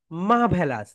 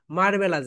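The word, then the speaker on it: marvellous: মা বলো মা মা ভ্যা ভ্যা লাস মা ভেলাস এখন একটা করে ক্লাব দাও বল মা ভলাস মাভেলাস মাভেলাস আমরা অনেক সময় এটাকে কি বলি জানো মারভেলাস বলি মারভেলাস এটা হচ্ছে রং প্রোনাউন্সিয়েশন রাইট প্রনান্সিয়েশন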